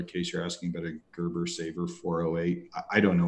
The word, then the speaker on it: Gerber: No, it's not Gerbil. It's okay. A Gerber Saber.